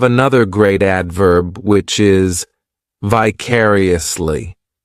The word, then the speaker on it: vicariously: This adverb has five syllables and the stress is on that second syllable. Vicariously. The third syllable, it's like that letter I. Just has that e sound. and the fourth syllable has the schwa vicariously.